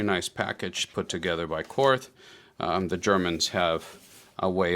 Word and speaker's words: Korth: It is pronounced Korth, it's not pronounced Korth.